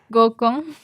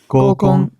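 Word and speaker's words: 合コン: gōkon. gōkon.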